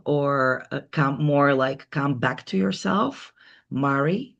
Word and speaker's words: Mari: Well, guys, if you want to expand yourself or come back to yourself, Mari rhymes with Ferrari.